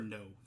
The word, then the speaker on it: Noé: This is a Gaspar Noé film. No, I think is how you pronounce his last name, N-O-E.